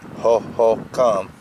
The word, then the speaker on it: Hohokam: found a village of the Hohokam is pronounced ho-hum village here in this